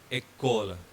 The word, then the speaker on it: école: The accent aigu, E, the E with accent going forward is pronounced as A. And the sample word here is école.